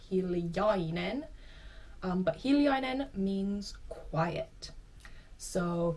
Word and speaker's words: hiljainen: Another trait in Finland is hiljainen. Again, this I in the middle sometimes gets dropped, so you might hear people say hiljainen instead of hiljainen.